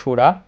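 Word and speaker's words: शूरा: অত্র সুরা, এখানে তালেব্যস্য থাকার কারণে আমরা বলবো সুরা।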